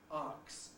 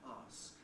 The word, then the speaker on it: ask: And most noticeably, arcs rather than ask.